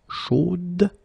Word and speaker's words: chaude: And then the pronunciation will change a little bit. Chaude. So here you pronounce the final D, whereas in the masculine form you don't pronounce it.